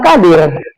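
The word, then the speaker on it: قادر: Qadir yang betul itu qo qo q pakai huruf qo. Tapi orang malas nyebut huruf qo dia ganti dengan huruf k ya kan.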